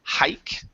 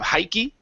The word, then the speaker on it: hike: Next word here is hike instead of hikey. Okay. Remember the E. The E here is silent.